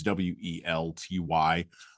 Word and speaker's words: Welty: Um, and I'm going to keep probably mispronouncing her name. It's Welt Ty.